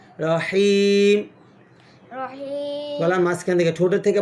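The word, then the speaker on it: رحيم: রহিম রহিম রহিম রহিম হিম বললে হবে না, রহিম হ্যাঁ গলার মাঝখান থেকে বলতে হবে, জিমের পরে হা। রহিম রহিম গলার মাঝখান থেকে, ঠোঁটের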